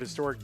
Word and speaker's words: historic: The word historic doesn't have a silent h begins with a consonant sound like the word hip.